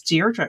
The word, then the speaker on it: Deirdre: I I'm so impressed not just with the cade meal show which is 100,000 welcomes but also you pronounce deerra correctly like I get called all sorts of things.